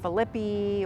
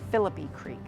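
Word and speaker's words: Phillippi Creek: bay uh and uh again this is commonly mispronounced Philippi or or um you know something along those lines but it is pronounced philippy Creek off of Fruitville Road coming out of downtown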